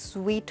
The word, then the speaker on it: suite: Well, वो ही इसकी pronunciation है, ओके।